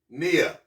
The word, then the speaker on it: Nia: a a and that's Cooperative economics we have Nia which means purpose ni Nia and again today's principle is Kumba Kumba is